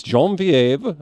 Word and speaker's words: Genevieve: Yes, Genevieve. I learned that from Star Trek, how to pronounce her name.